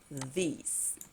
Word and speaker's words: these: ¿Cuál es la diferencia de pronunciación con this and these? Que la I se extiende un poquito más. This, these. Okay?